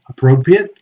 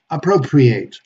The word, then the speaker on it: appropriate: with it okay and when these words are verbs the pronunciation should be a a okay like to appropriate for example appropriate appropriate okay let's see some